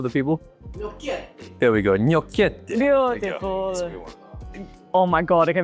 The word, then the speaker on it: gnocchetti: It looks like a bit of a Wes, how do you pronounce that? You want to say it loud for the people? There we go. Gnocchetti.